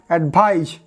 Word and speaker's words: advise: Mind the pronunciation, because this first one is advice, because this C sounds S, and this one advise, because this S sounds Z.